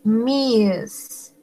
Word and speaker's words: Ms.: La siguiente es Miss. Miss. Como una Z al final.